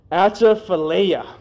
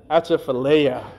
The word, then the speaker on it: Atchafalaya: I think I'm pronouncing this right. Atchafalaya.